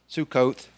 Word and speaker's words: Sukkot: upon yourself to cover which is sack off Sukkot that's the pronunciation then Ethan strong steadfast firm the next